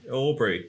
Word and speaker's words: Aubrey: Aubrey, yeah. Rhymes with strawberry.